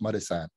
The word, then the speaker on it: Modisane: Do you pronounce it A at the end, Modisane, or just Modisane? Okay, the first one is pronounced D.